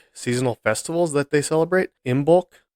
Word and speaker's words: Imbolc: Imbolc, I guess, would be the best way to pronounce it.